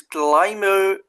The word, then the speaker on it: climber: The third type is climber stem. Climber the P is silent.